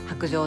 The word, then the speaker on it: 白杖: 白杖をですね白い白杖と書いて薄情と読みます今たたん